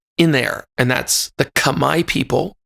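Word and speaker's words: Khmer: there and that's the Kamai people k h m e r it looks like it would be pronounced kamur but they've told me it sounded it sounds like Kamai it's a tonal language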